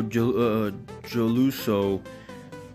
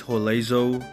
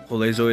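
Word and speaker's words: Joselu: So, his actual name is Jolezo. Jolezo it is, and Vallejo. That's what it is, Vallejo. That's his name, Jolezo.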